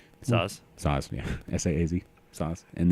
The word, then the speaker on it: Saaz: How do you pronounce it? Hallertau. Hallertau, Hallertau, and then Tettnang, yeah, and then what's the S? Saaz.